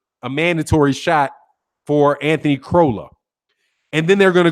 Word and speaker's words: Crolla: More than likely, Anthony Corolla is going to be, I say Corolla. I'm sure it's not pronounced Corolla. I know it's not pronounced Corolla, but Anthony Crolla, I think that's it.